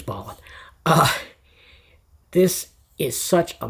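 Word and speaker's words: Bolland: Artists by Brian Boland, I believe it's pronounced. I've been saying Bolan my whole life, but I'm pretty sure it's Ballin.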